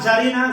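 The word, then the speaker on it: czarina: হচ্ছে বুঝতে পারছেন এগুলো কেন পড়তে হবে যার জারিনা জারিনা বানানটা দেখেন সি জা সি জেড এ আর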